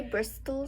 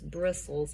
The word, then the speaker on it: bristles: worm move okay and this word has a t in it which is a silent t so you were correct to see it but did i say bristol i heard a little bit of it and that's not your bristles that's not a fair word for you because i haven't taught this word being a silent t in that word but that's what happens so it's bristles and we just don't say that sound yeah okay there are